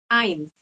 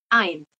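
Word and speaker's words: eins: usah banyak-banyak ya Eh yang pertama Ain ingat ya e i bacanya jadi a i i yaitu Ain Kemudian yang kedua Z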